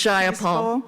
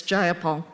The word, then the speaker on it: Jayapal: takeover it was just jaya paul if you're going to say my name please say it right it's jayapal jayapal clearly these democrats